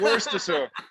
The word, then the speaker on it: Worcestershire: It's Worcestershire.